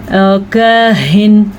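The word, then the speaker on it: كاهن: کاہن ہا کے تلفظ کا دھیان رکھنا ہے.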